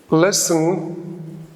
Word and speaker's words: listen: Even baby Yamin knows these phonological facts, that the na is silent, the ta is silent, and the wa is silent.